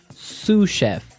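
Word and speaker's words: sous-chef: Sue chef. Sue chef. Sue cheef. S o u s. So the s is silent because it's like a French word.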